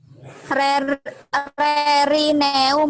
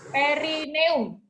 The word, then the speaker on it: perineum: Rerineum, Ibu. Perineum. Ya, perineum bacanya.